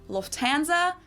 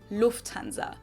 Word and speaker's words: Lufthansa: In English, people usually say Lufthansa, Oh, but in German, oh. we say Lufthansa. So Wow. the emphasis is on the first syllable, Lufthansa.